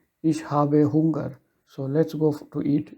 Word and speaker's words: Hunger: How you pronounce it is hunger, like yeah, it has to be a bit long.